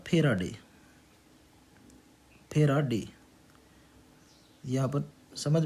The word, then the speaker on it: Faraday: इसका नाम है फेराडे, फेराडे। यहाँ पर समझ में नहीं आया तो ध्यान रखना है इसकी स्पेलिंग FARADAY, फेराडे।